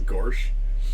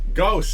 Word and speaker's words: Gauss: It's not Gorsh. Gauss, it's a term of in physics.